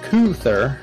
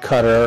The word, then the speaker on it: Kuther: Kuther, which we've learned many weeks ago is pronounced Kuther, not Cutter or Cuther. It's Kuther, I think.